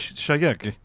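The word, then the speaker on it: Shayk: Skyak? I don't know. I think it's pronounced skank.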